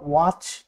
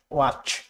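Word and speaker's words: watch: Silent টি সিএইচ এর আগে বা নির্দিষ্ট কিছু ওয়ার্ড হয়, যেমন ওয়াচ, লিসেন, ব্যালে, not ballot, not listen, not ওয়াচ, ওয়াচ।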